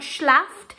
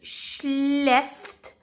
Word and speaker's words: schläft: Okay, and things like schläft, so it's got two dots above it, so it's not schlaft, it's schläft, okay?